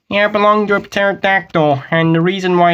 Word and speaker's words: pterodactyl: I belong to a pterodactyl and the reason why it's all clear and not there is because uh the p is silent I'm just gonna pretend